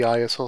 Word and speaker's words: ISO: more used to seeing the iso or sometimes pronounced ISO uh standard and uh